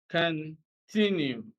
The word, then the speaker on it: continue: the first syllable and D continue stress is continue so stress is actually on the second can three new stress is on the second syllable all right so here